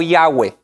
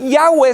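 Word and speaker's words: Yahweh: cómo se pronunciaba y la mayoría de los expertos bíblicos nos aconsejan como cristianos pronunciar el nombre de dios como yagüe entonces yagüe sería el nombre más correcto en vez de las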